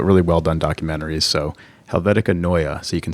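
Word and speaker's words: Helvetica Neue: turns out uh my client was right it's helvetica noya um and that was courtesy of gary hustwick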